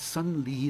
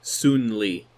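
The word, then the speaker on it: Sun Li: Chinese pronunciation either but instead a son that should technically be soon Li and soon high but that's all right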